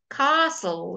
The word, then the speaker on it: castle: bristles bustle he was bustling about tone bustle castle the Queen lives in a car fasten we